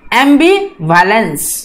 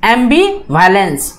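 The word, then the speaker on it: ambivalence: तो देखिए यहाँ पर बीयू पे, यहाँ पर उन्होंने जो है ये एसेंट मार्क लगाया हुआ है, एम बी यू, ब्यू, ये जो है थोड़ा सा हाई प्रोनाउंस करना है, एम्बिवैलेंस, ओके, इस टाइप से।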